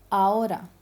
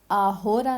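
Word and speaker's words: ahora: आचे हमेशा सिलेंसियो, साइलेंट रहता है, ठीक है, साइलेंट, चाहे वो स्टार्टिंग में है, यहाँ पे देखिए स्टार्टिंग है होटेल आओरा, ठीक है, यहाँ पे मैंने इसकी प्रोनाउंसिएशन दी है आओरा, आहोरा नहीं, आओरा, होटेल ओनेस्टो।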